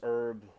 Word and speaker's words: herb: Did you know that we pronounce herb like herb where Americans miss the H?